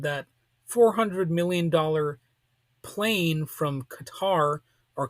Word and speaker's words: Qatar: $400 million plane from Qatar or Qatar as it's sometimes called you know I've heard it pronounced both ways the proper pronunciation is probably cutter but I tend not